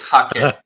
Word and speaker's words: Hake: you pronounce Hague brush so to me it's hockey because it's uh I guess Japanese yeah I I say pronounce it however you want here hate I hear hate the most yeah I